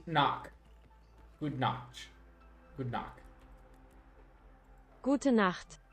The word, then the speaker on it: Gute Nacht: Gute Nacht. Gute Nacht.